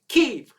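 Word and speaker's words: Kyiv: sent memos particularly cnn say k-e-e-v that's what you got to say keeve so these robots on cnn they talk to the mayor of kiev and the mayor of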